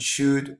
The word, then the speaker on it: should: Should, the L is mute. It doesn't sound at all.